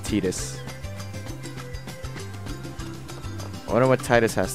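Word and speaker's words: Tidus: be something okay I this is literally the first game where you know Titus's name is pronounced etus I wonder what Titus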